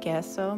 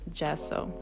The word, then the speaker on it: gesso: gesso in one of our first videos i pronounced it gesso because it is spelled with a g but a kind person on reddit told me that it is in fact pronounced gesso so she added some gesso along with some